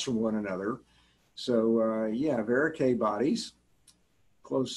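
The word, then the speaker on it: Verocay: And varicae rhymes with A, so it's Antony A type of schwannoma or neurolymoma when you get varicae bodies like this.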